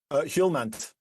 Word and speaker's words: Hjulmand: Now then, Casper, help me with the pronunciation of Casper's surname, Andy Hoyland? Hjulmand. Hjulmand, thank you.